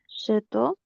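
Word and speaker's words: château: Chateau.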